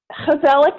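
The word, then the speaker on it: Gezellig: then how do you pronounce it okay so Kozelek is spelt with a g' so it's GE z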